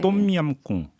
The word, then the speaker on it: 똠얌꿍: 발음이 어려워갖고. 네. 똠얌꿍.